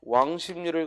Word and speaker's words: 왕십리: 리는 외국인들은 의식을 못하니까 그냥 발음 나는 대로 왕십리 이 비음화된 이 발음을 로마자로 옮기는 거야.